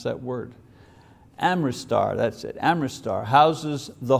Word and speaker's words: Amritsar: The Golden Temple at Amritsar, I can't pronounce that word. Amritsar, that's it, Amritsar, houses the Holy Granth, which is the writings of Nanak.